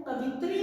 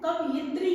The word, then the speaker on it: कवयित्री: कवित्री, कवित्री में हमारा जो उच्चारण है वो कवित्री नहीं है, कवयित्री है।